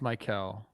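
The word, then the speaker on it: Maikel: mlb is it franco isn't his name like the the one that you pronounce normal i know it's mike michael franco michael i think it is no it's mikel wow uh rey sent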